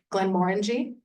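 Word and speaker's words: Glenmorangie: So this is Glen Moreni. That's how the Scots pronounce it.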